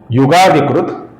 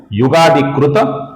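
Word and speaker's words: युगादिकृत्: तो सर्वप्रथम नाम है दोस्तों युगादिकृत। इसका जो त है, अपूर्ण त है, इस त का द बन जाता है जब आगे य आता है।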